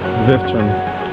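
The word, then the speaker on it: Vevčani: How do you pronounce the name? Vevcani.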